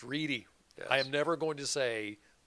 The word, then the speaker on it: Reddy: And remember, my last name is spelled Reddy, but pronounced Reedy. It's Reedy.